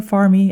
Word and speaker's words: Farm: We went to my favorite store, the farm store, farmy as you pronounce it in in Portuguese.